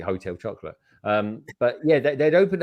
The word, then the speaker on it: Hotel Chocolat: or was it yeah hotel shuttle eight uh that's how they pronounce it uh i call it hotel chocolate um but yeah they'd